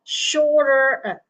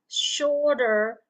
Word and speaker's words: shorter: Instead of shorter, okay, you pronounce that as shorter and shorter, oke? Okay? Jadi dilafalkan seperti tulisan bahasa Indonesia yang di bawah ini ya. Instead of shorter. there shorter. Okay, shorter and shorter.